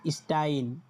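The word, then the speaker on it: Stein: তারপর হচ্ছে কি? এস এস। এস এস এ দুইটা মিলে কি হয়? স্টে এরকম উচ্চারণ দেয়। তখন কি হয়? স্টাইন মানে এখানে দেখেন স্টাইন এস টি এ আই এন স্টাইন স্টাইন মানে পাথর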